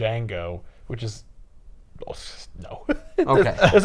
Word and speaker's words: Django: super my name is Jango yeah that is my name right the D is silent yeah but what about